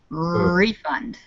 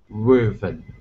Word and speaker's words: refund: thank you all right so the word is spelled the same but when the stress is on the end of the word the last syllable it's the verb if it's on the beginning syllable it's the noun in this case a